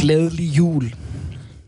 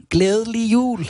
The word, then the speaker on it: Glædelig jul: Glædelig jul. Okay, one more time. Glædelig jul.